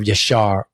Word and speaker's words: Yashar: It's it's that's that's what you do when you talking about Yasha and that's spelled y a s h a r.